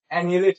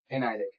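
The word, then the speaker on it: annihilate: इसको बहुत लोग एनिलेट पढ़ते हैं। इसको बहुत लोग एनिलेट पढ़ते हैं, जो कि गलत है। इसका सही प्रोनाउंसिएशन क्या है? एनाइलेट।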